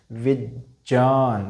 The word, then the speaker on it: विज्ञान: अब उच्चारण कीजिएगा, विज्ञान, देखिएगा ज और ये दोनों मिलेंगे तो क्या हो जाएगा दोस्तों, जय, क्या हो जाएगा, जय, ना कि गे, गे नहीं होगा, जय होगा।